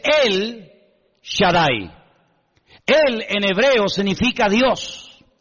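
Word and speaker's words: אל שדי: Ja solamente hay uno así que en hebreo no dice Ja Shadai el todopoderoso sino dice él Shadai él en hebreo significa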